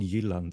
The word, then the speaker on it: Jutland: I know it's called Jutland in Swedish.